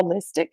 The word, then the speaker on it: allistic: I looked up how you pronounced it, and it's Mhm. allistic.